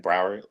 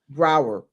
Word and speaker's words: Broward: Like Broward. Like Broward. Broward. Broward.